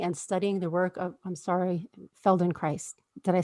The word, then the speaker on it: Feldenkrais: Her journey has included completing level 1 Trager training and studying the work of, Feldenkrais. Did I say it right? Yes, Feldenkrais.